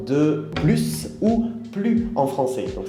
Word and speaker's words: plus: En général, on ne prononce pas le S quand il y a un adjectif après. Par exemple, quand on va dire plus petit, ou plus grand, ou plus sympa, par exemple.